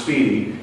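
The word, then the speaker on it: SPDY: well Speedy yeah um SPD y was it's just pronounced Speedy it's also one of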